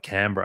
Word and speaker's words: Canberra: How do you spell it? Is it Cambria or Canberra? Canberra.